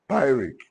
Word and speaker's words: pyrrhic: Pyrrhic. You say pyrrhic. Let's go. Pyrrhic. Pyrrhic in literature can be said to be a poetic term. Pyrrhic in literature can be said to be a poetic term.